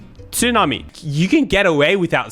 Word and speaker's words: tsunami: really exist in english tsunami is pronounced with a silent t yeah i'm just saying